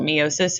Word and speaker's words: meiosis: There is no one right way to say it. I learned it meiosis, and so that's the